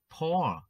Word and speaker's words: pour: Hay như nếu chúng ta thêm chữ p vào trước, thì chúng ta được động từ pour, pour. Từ này thì lại đọc là âm o, pour, rót, rót ra.